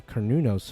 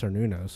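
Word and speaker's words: Cernunnos: Um, I guess I'll bring I assume this is the Kernunos fight or I learned it was it's pronounced Cernunos which is just weird to me but this is the Cernos fight.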